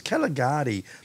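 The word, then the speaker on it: Kgalagadi: front II part is Caligari is the way the local Bushman pronounce it okay oh we call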